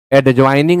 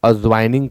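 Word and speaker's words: adjoining: एड्जॉइनिंग ना कहें आप अजवाइनिंग कहें।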